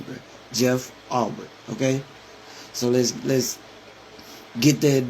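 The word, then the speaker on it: Jeff Ulbrich: So I kind of hope you stood on business when you got on Jeff Arbrick. And they keep saying that man's name wrong, bro. It's Jeff Arbrick. That's how you pronounce his name to all the other guys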